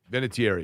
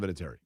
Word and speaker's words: Vinatieri: Vinatieri, yes, that is correct. That is the correct pronunciation, as Adam Vinatieri himself will tell you, right?